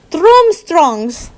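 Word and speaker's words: Durmstrang: the two looked young enough to have been domstrong's room thrombstrongs is how you say it whatever he he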